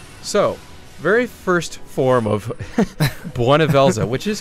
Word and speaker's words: Bhunivelze: the most useful so very first form of buela which is how you pronounce that because they say it over and